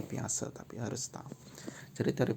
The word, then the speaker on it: Piaget: Tulisannya Piaget tapi bacanya Piaget, tapi harus tahu.